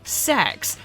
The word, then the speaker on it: CeX: to Mafia 3 that's just Unholy watch us CeX or sex as their official adverts claim it's pronounced you can't try and lure in Gamers